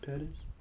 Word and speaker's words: Pettis: And he was bad in Madison Pettis.